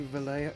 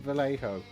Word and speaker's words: Vallejo: would annoy someone God it's actually Valle I know I've been pronouncing it Vallejo all night pick up on